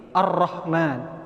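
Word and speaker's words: الرحمن: Ar-Rahman. Jelas dibacanya, enggak tipis, tebal.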